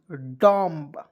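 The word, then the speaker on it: dumb: आइए देखते य पे डी यू एम बी डम डी यू एम बी डम नहीं डम डम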